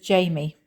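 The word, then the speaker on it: Jayme: a YouTube channel called create and meditate with Jamie and Jamie is spelled j a y m e and it's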